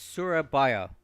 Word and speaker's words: Surabaya: me catch up here every time I say Surabaya I understand Serbia it's Surabaya I don't know how else to say it that's that's how you say it um not Serbia though uh I speak about